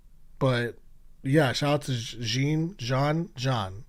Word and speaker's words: Jean: But Yeah, shout out to John. It's spelled Jean, but I think it's pronounced John, for the growth